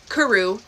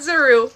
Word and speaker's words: kuru: Um, in relation to kuru, not zuru.